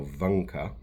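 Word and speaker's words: вънка: Um, the first vowel in that word has shifted pronunciation in modern Bulgarian. That word is now vanka and it means outdoors.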